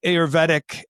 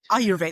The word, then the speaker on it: Ayurvedic: So, so what um I wanted to ask you a little bit about um the Auroretic um Ayurvedic or Auroretic, right? Is that how you say it? Ayurvedic.